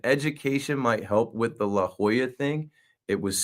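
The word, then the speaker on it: La Jolla: uh help a little advice you know it's pronounced La Hoya and I just said never heard of it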